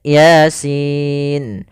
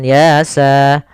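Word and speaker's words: يس: nah ini cara membacanya Jangan dibaca dengan Yasa ya ini termasuk salah satu cara membacanya adal dengan huruf-huruf muqatah huruf-huruf yang diputuskan maka kita bacanya Yasin itu sesuai dengan hurufnya kalau ya ya Sin berarti dia huruf Sin maka pada lafal Sin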